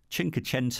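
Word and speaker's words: Cinquecento: I was really delighted when Fiat brought the chinko tent oh that's how you say it the 500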